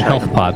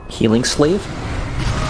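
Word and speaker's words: Healing Salve: say it but a help lot the actual name of it healing South okay do you know what the actual pronunciation is healing sleeve feeling sad oh that's right that's right that is correct I actually never knew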